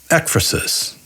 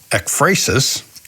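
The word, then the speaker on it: ekphrasis: there is a term ekrasus that i do not fully grasp and by the way up until two minutes ago in the audio dictionary i pronounced it ecrasis but there is this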